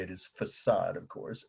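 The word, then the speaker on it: façade: I have half my family Roots over there faade is how she would say this the right way to say it is facade of course f a c a d e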